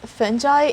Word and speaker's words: fungi: but the pronunciation fungi is actually correct both fungi and fungi are correct pronunciation the last one is quotation can you